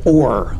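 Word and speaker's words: אור: The Hebrew word for light is or, which we get the word O-R-E, which means gold or whatever, or something rare.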